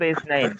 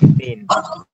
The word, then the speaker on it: اثنين: মূলত ইসনাইন, এটাকে আবার কেউ যদি ভুল ধরে তাহলে বুঝতে হবে যে সে সঠিক। ইসনাইন বলছি, ওরা আসলে ইসনাইনও বলে না, ওরা বলে ইসনিন।